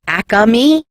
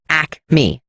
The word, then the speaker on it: Acme: chains in the area people from Philly call it a commie but it's not it's Acme two syllables no extra a halt his trial began